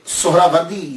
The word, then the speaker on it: سہروردی: اصل تلفظ کیا ہے۔ اصل میں یہ سہراوردی یا تو نسبتی ہے، تو لفظ جو ہے وہ سہراورد ہے، سہراورد، سین کے اوپر پیش، پہلی ہا، یہ ہا ساکن، را کے اوپر بھی زبر، وا